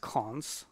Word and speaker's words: cons: a final case class it's pronounced cons right these two columns pronounce cons and it's covariant as